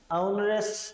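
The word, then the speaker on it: nauseous: हैं आज का नरेस नरेस देखिए इसका भी उच्चारण देखिए थोड़ा सा सही है नरेस औ की धवनी है क्या है औ की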